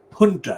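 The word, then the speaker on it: junta: hunter is spelled of course j-u-n-t-a and it's pronounced punta it's a latin word and often used in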